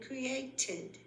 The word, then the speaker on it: created: The ones that pronounce ed as a separate syllable are benefited and created.